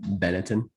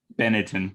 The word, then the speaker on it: Benetton: I don't even know how to pronounce it. Benetton. Benetton.